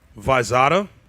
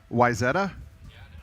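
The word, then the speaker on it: Wayzata: Um, Visada. So, from what online told me, which we've got a native right here with us. Okay. Weetta.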